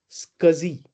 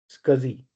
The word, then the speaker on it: SCSI: The first terminology that you'll have to understand is called as scuzzy.